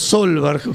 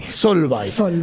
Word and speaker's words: Solveig: Era como decimos Solberg. ¿Cómo es bien? ¿Vos la pronuncias bien? Solvay. Solveig. Solveig, exacto, Solveig.